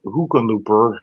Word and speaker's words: Hickenlooper: The incumbent Senator John Hickenlooper, how do you pronounce that? Hickenlooper.